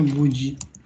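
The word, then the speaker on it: 無事: Berarti buji. Dibacanya buji. Nah, ya. Buji itu artinya selamat, misalnya sampai penerbangan ke Jepang itu buji shimashita. Hati-hati, ada dibaca bu, ada dibaca mu.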